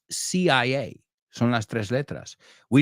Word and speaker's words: CIA: The CIA director says, and remember, in English, we don't say FIA. It's CIA.